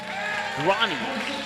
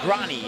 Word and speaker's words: Grani: Carley, number 5, Hayden Grani, I believe is how I was told to pronounce it. Let me look at my sheet once again. Grani, yep.